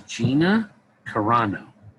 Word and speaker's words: Gina Carano: want to say her name properly it is gina carano she plays cara doom she's a formal rebel